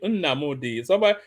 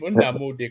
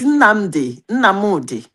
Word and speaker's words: Nnamdi: But is the correct pronounce of Nnamdi Kanu's name Nnamudi? I had somebody call it name Nnamdi Kanu with an it's Nnamdi. Nnamdi, but they will shorten it.